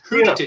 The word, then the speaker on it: Skördetid: You don't pronounce the SK apparently. It's just Hurtigruten.